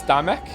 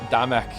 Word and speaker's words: Damek: Is the L silent? It's Damek. Damek. Like we're Scottish.